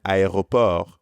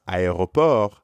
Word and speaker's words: aéroport: In French, you pronounce every letter of this word except for the final T.